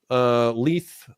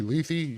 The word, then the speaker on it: Leith: I pronounce it Leith. How do you pronounce it? You could be Leithy. You just say. Either way works. Okay, so I'll roll with Leithy or.